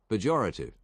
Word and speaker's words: pejorative: I swear people pronounce it as if they have an R, it has an R in it. Pejorative. I'm just gonna pronounce it this way because it doesn't have an R in it, and it's proper, and it probably was always this way.